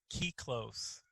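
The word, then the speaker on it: kyklos: it's it's the it's the greek word is key close um and so but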